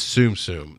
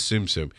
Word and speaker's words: Tsum Tsum: And it is Tsum Tsum, not TSUM, not Tsum Tsum. It is Tsum Tsum.